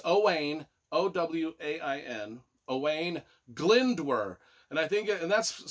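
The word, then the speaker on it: Owain Glyndŵr: pronounce any Welch stuff but it's owain o-w-a-i-n owain glindwer and I think and that's spelled g-l-y-n-d-w-r so away in glendor was a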